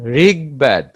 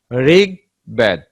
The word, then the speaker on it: ঋগ্বেদ: গ এর সঙ্গে ব ফলা যুক্ত হলে বর উচ্চারণ স্বাভাবিক হয়। গ সঙ্গে যখন ব ফলা যুক্ত হয়, সেক্ষেত্রেও ব এর উচ্চারণ স্বাভাবিক থাকে। যেমন ঋগ্বেদ, ঋগ্বেদ।